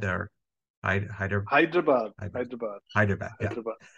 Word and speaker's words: Hyderabad: That's how you pronounce it? Hyperdad or Hyderabad. Hyderabad.